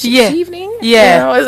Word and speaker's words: Chevening: So, how did you hear about the Chevening Scholarship, and why did you decide to apply?